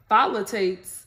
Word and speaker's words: phthalate: It's formulated without sulfates, parabens, phthalates, and silicones.